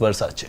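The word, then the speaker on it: Versace: Madam, यह वर्साचे है, जो स्टॉक में नहीं है , लेकिन इसका उच्चारण वर्साचे ही होता है।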